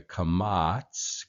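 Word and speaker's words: קָמָץ: So you have the kamats, kamats, and the patak, patak. And both of these in modern Hebrew are pronounced A as in ya, at, at. There's no a in Hebrew. There's only an a sound.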